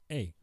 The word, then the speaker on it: Habitica: Habitica. Oh, like habit. Habitica. Habitica. Mm-hmm. Gattaca and habits put together.